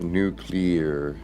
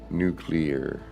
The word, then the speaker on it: nuclear: Nuclear las nuclear. It's so hard to truly pronounce that properly. Nuclear. Not nuclear. It's nuclear. Nuclear. Like new and clear.